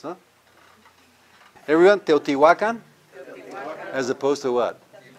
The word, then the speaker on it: Teotihuacan: You know, the way it's supposed to be pronounced, huh? Everyone, Teotihuacan, as opposed to what? Teotihuacan.